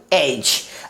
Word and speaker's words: edge: EDGE, क्या पढ़ेंगे, एज।